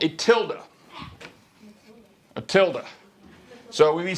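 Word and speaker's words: tilde: go to the library is it n Tilda or Tilda Tilda or tild it's t i lde e t t i l d e is how you spell it all right t i l d e I've heard some people say tild Matilda not Matilda good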